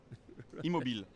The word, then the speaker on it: Immobile: Immobile. Immobile. French is a little bit difficult. Right, there are letters that we don't pronounce.